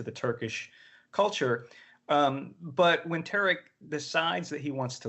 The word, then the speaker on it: Tariq: I'm sorry, is that how you pronounce the Tariq?